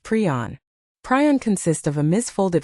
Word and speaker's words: prion: In his 1982 paper introducing the term, Priner specified that it is pronounced pron.